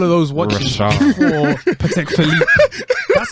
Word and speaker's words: Patek Philippe: for Patek Philippe.